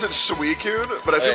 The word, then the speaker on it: Suicune: you're supposed to know that they're supposed to pronounce it suicune but i feel like i feel like sukun sounds so much cooler dude oh frame's favorite